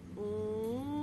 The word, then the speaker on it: ओम: ओम। फिर से लंबी गहरी सांस भरें। आधा ओ आधा म का उच्चारण। एक बार फिर लंबी गहरी सांस। ओ छोटा म बड़ा, म के कंपन को महसूस करें।